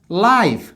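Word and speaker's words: life: দেখো প্রথমটা কনসোনেন্ট, দ্বিতীয়টা কনসোনেন্ট, তার মানে আমার উচ্চারণ হবে লাইফ।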